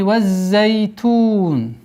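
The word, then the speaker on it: والزيتون: Обратите внимание, здесь у нас удвоение за свисящий звук. Зай.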